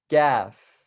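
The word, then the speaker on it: كاف: we have the letter Gaff the letter Gaff so it's like but you're just smiling Gaff Gaff and so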